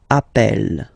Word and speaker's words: appelle: and then you get a double consonant, and well, they are the same, then it does change the pronunciation of e. You tend to pronounce it like really open. That's the reason why you pronounce it appel, okay?